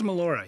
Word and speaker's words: Melora: who knows yeah uh did you pronounce her name Melora I believe it is Melora yeah Melora Harden I